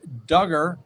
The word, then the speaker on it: Duggar: the docket first josh duggar rhymes with hugger wants to delay his